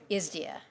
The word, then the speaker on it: ISDEA: I call it ISDEA. Does anybody else call it ISDEA? There's been such debate about the correct pronunciation. So as a committee, I would like us to agree on just calling it ISDEA?